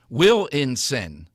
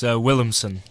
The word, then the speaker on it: Williamson: All right, I am being produced today by Jack Ehrlich and Willinson. Was that anywhere near close? Very close. It's Williamson. Okay.